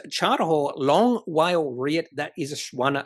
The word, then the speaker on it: WALE: Long whale. Whale. Whale is actually spelled without the H. So it's actually W A L E.